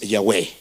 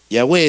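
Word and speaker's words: Yahweh: la Biblia católica yahvé Cuál es la mejor pronunciación de Dios según los expertos que les da miedo incluso pronunciar los expertos hebreos les da miedo pronunciar el nombre Eh es yahwe yahwe es es el hombre más apegado a la traducción correcta y si me escucha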